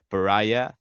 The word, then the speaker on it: Pariah: uh, so I know in English for I mean the correct pronunciation should be pariah, but like I we